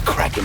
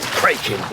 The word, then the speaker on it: Kraken: Kraken's how it's pronounced in the original Scandinavian. But what happened was Kevin McNally was the first character to actually speak the name of it, and he pronounces it Kraken.